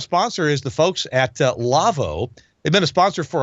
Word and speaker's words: Lawo: And that's one of the reasons I'm excited to introduce you to our sponsor, Lavo. Now, that's spelled L-A-W-O.